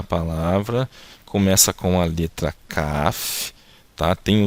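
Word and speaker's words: כף: Então a gente vai pronunciar aqui o som da letra K, da letra Kaf, depois o A, então K, e depois o som do F da letra Fei. Então fica Kaf, tá?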